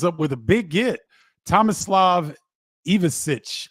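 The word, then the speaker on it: Tomislav Ivišić: Tomislav Ivicic, I believe is how you pronounce his name, from Croatia.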